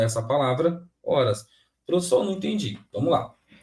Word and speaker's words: horas: Qual é essa palavra horas professor não entendi Vamos lá gente a letra h na língua portuguesa ela é uma letra podemos se falar que ela não tem som é uma letra muda